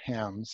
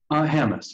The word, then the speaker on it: Hammes: I'm happy to introduce to you Matt Hams today. Did I say it right? Hams? Hamas. It's like hammer with an S.